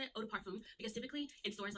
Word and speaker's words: eau de parfum: Eau de parfum.